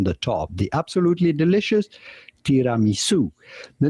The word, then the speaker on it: tiramisu: Tiramisu. Tiramisu, which is the way I always pronounce it, too.